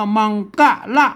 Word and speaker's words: มังคละ: ผม มา นะ ครับ ตัว หน้า ตก กล้า ส่วน มาก นะ ครับ อ่าน ว่า มัง นะ ครับ อ่าน ว่า มัง กะละ นะ ครับ มังคละ อัน